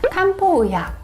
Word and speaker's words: 칸포: 그때 조화로울 화자를 사용하는데 그래서 일본의 한방의학을 화한약이라고 또는 한방의학이라고 하여 일본 발음 그대로로 발음하여서 칸포의학, 영어로도 칸포 메디슨이라고 표기합니다.